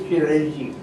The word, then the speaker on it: chirality: And life is not possible unless there is chirality.